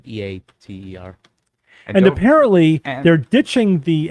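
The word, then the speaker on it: ITER: dr ninja brian what that's easy to remember now has the word eat in it yeah eater huh inner or eater it's eater apparently peter yeah like like e-a-t-e-r and apparently they're ditching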